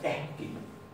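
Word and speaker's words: ekki: Se escribe la ortografía al revés, pero esta K, esta doble K, ya no se va a pronunciar como doble K, se va a pronunciar como HK. Entonces, lo primero es que una doble K se va a pronunciar como HK. Y esto se va a pronunciar eski. Eski. Eski.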